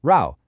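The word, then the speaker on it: 肉: It's a simplified version of row which is pronounced row and it means meat.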